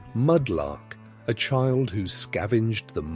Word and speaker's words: mudlark: You might be a mudlark, pronounced mudlark, a child who scavenged the muddy banks